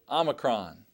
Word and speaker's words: Omicron: letter is the letter Omicron Omicron Omicron now Omicron makes the sound of ah ah as an omelette omelet now this is